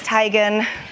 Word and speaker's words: Tegan: Is it Tegan or Tigan? Or is this a tomato, tomato kind of thing? It is Tigan.